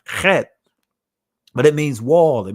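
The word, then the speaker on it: חית: And when I think about the wall, I think about this letter, the Kath, right? In the Israeli language, it's pronounced Chet, but it means wall.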